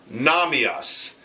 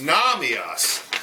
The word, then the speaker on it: Nahmias: the name of David Nam EOS and David it's funny because his name is Nam EOS see this here this is how it's spelled this is how it looks his name is Nam EOS and he makes magia